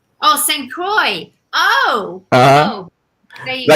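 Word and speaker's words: St. Croix: Oh, St. Croy. Oh, there you go. Like you said it with a French. It's pro. No, it's probably pronounced that way with a French um accent cuz the OIX.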